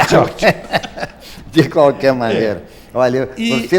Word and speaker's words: Churchill: Numa boa pronúncia inglesa, Churchill.